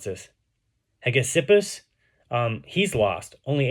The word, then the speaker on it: Hegesippus: How do you pronounce this? Hegesippus.